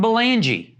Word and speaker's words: Belangee: This is Ashley Welter and Belangee, right? Yes. Did I pronounce that right?